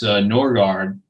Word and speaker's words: Norgaard: Okay, well, I was always told it's Norgaard.